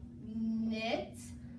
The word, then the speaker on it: knit: Whenever the letter K comes before the letter N, the K is silent. It's not down there. So KN goes together to say and it says like in knit.